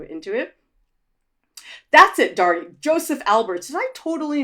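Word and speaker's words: Josef Albers: Joseph Alberts. Did I totally mispronounce that? Yeah, no, Joseph Alberts.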